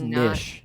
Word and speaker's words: niche: that that's his path according to uh Miriam Webster Niche Niche and Niche are all acceptable pronunciations wow no one says Nish no one says that it's an acceptable pronunciation like fish if you guys go